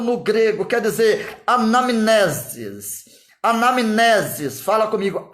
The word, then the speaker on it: anamnesis: Anamnesis, fala comigo, anamnesis. O N, E o M e o N estão juntos. O M é mudo.